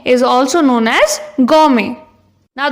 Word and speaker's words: gourmet: इस वर्ड में T silent है, तो इसको भी हम वही कहेंगे। जो इंसान बहुत ज्यादा खाता हो इज ऑल्सो नोन एज गॉर्मे।